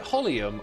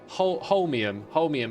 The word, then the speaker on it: holmium: Is it holium? I remember taking the time to try and learn how to say it. Holmium.